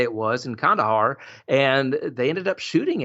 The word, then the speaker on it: Kandahar: I don't know how you pronounce it. Kandahar. Kandahar.